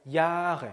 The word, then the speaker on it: Jahre: 특히나 Jahre alt에서 Jahre 모음이죠. 뒤에 하죠. 앞에 있는 몸을 길게 발음해야 되니까 Jahre가 됐죠. Jahre가 아니고 Jahre, 그렇죠?